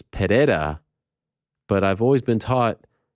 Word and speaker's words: Pereira: say pajera he says Pereira but I've always been taught with the Portuguese you don't pronounce the r but then what about